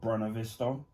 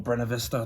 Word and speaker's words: Buena Vista: Because I do know back in the day, Disney used to distribute certain movies via Buena Vista, or Buena Vista, depending on how you pronounce it.